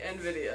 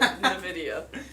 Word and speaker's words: Nvidia: when they're here yeah I have to like really think about it though to say Nvidia instead of Nidia yo yo y what's